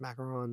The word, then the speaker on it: macaron: a waiter dropped a macaron in shock I like how you pronounced macaron there thank you Mary very correct yes just so you know macarons and macaroons are two different things fun fact the more